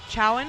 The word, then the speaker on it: Chowan: either Wheeling Jesuit or Cho Chowan is that how you pronounce it I was actually curious choen or Chowan okay choen they will they will